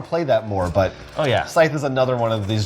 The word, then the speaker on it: Scythe: I have the one, the only, Scythe. Oh, And that's how you say it. that's right. It's Scythe, and anyone else who says otherwise is wrong.